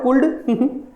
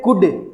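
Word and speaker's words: could: ये कुल्ड नहीं है, इट्स नॉट ए कुल्ड इट्स ए कुड। ये क्या है? कुड है। अच्छा कुड है क्या सर? देख लो ये कुड ही है।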